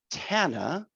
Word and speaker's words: Tana: where we are in the spotlight today with tana with t-a-k-o health care resources and i have